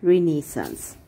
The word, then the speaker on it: renaissance: revert or revival and it is a french word and it is pronounced as renaissance and so before learning